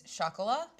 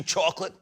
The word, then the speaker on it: Chocolat: One of my favorite ones of all time is chocolat. I like how you throw in the chocolate. Chocolat? People from Queens just go, hey, did you see chocolate? That's not how it's spelled, though.